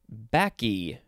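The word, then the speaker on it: Bacchae: okay we are going to move on to baki or that's how it's pronounced it is spelled capital b a c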